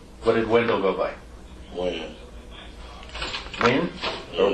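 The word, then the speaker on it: Wynn: Win. Win? Or Wan?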